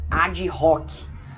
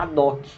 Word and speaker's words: ad hoc: Tem gente que muitas vezes prefere falar ad hoc, né? Mas o certo seria ad hoc, porque o H é mudo, tá? Tanto em latim quanto na língua portuguesa.